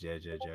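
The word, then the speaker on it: jajaja: Because J's are pronounced like H's in Spanish.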